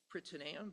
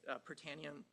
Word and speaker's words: Prytaneum: It's the platform that my lab is developing that uh that the correct pronunciation is pronamium but it but we say pranium.